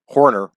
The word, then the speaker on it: Horner: harner over one giraffe horner over weingar off not harner it'd be kind of some people would pronounce it tim harner probably the same people that say florida like did you go down